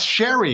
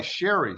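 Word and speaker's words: Sherri: it's Miss Charlotte am I pronouncing that correctly no it's Sherry now s-h-e-r-r-i Sherry Sherry Sherry wow um I didn't know about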